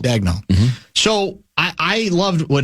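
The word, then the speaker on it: Daigneault: Who's the How do you pronounce the Oklahoma City states Oklahoma State Oklahoma City coach's name? Mark Dagnel. Dagnel.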